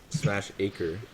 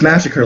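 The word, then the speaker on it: Smashacre: he calls it wait I always thought it was smash acre no it's Massacre like Massacre but yeah why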